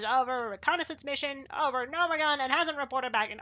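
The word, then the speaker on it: Gnomeregan: Apparently it's Nomergon, and I've been trying to learn to pronounce it properly.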